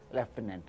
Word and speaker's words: Lieutenant: तो जैसे जब मैं आपको लेफ्टिनेंट की, सर बोलने में अलग होता है और भाई इसकी राइटिंग क्या होती है, तो स्पेलिंग क्या है इसकी? LIEUTNENT, स्पेलिंग होती है लेफ्टिनेंट। ठीक है, इसको हम क्या बोलते हैं? लेफ्टिनेंट।